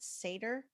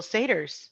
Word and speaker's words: Seder: Is it Seder? Mm-hmm. Seder. Okay. Before all that was happening, Josh and I made Zoom backgrounds for the dinner. That's genius, because so many people had to do virtual Seders.